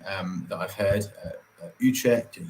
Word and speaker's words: Utrecht: that i've heard uh utrecht and utrecht you checked like really getting at the back of the throat uh beautiful place like